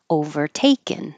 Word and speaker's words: overtaken: Overtaken, second to last, overtaken.